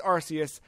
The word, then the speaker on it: Arceus: I think it's Arceus. Yeah? The Katakana for the same announcement... Like, it is not a K sound. It's a S sound. So I think it's Arceus.